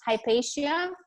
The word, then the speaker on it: Hypatia: It's pronounced Hypatia.